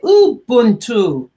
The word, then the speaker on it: Ubuntu: My friends keep on saying to me, Pearl, say it correctly, because it sounds like there's an M and it's spelled U-B. So say Ubuntu.